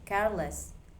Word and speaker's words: careless: Example number two, careless. Careless. The stress stays on care.